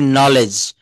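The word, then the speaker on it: knowledge: বলছে শব্দের শুরুতে কে এন থাকলে তার উচ্চারণ দন্তন্য।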